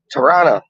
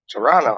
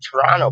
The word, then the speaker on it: Toronto: it like that before normally people like they don't pronounce the t's i pronounce my t side but normally like you got a man saying like toronto tirana tirana that's it toronto oh i'm going up